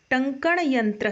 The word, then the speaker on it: टंकण यंत्र: प्रति बहु काला सुरक्षिता प्रतिष्ठत इस शब्द का उच्चारण है बच्चों टंकण यंत्र अ ठीक है टंकण बोल है उसको टंकण